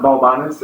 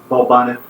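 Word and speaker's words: Balbanes: Also, it's not Balbanus, it's Balbanith. Like Aerith? Like Aerith. But everything just makes you sound like you're like, what's fuck. Lisbon it up? Castilian. Oh, yeah, Castilian. Balbanith.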